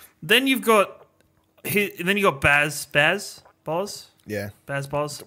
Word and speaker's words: Baze: Baz? Well, I say Baz. I'm sure someone says Baze, but guess what?